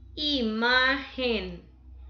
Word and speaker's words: imagen: Imagen, imagen, ma tiene en la segunda, imagen. Tiene la sílaba tónica en ma.